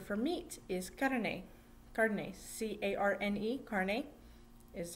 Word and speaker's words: carne: the spanish word for meat is carne cardenas c-a-r-n-e carne is how you would like the american way of print pronouncing it carne gardner and this uh the